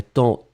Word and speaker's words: temps: ce serait plus joli on ne prononce pas le S mais ça doit être là quand même avant normalement il y